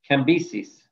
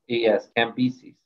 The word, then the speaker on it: Cambyses: I'll spell it for you. Cambyses. Okay, if you have notes, you can see it on your sheet. C-A-M-B-S-E-S. Cambyses.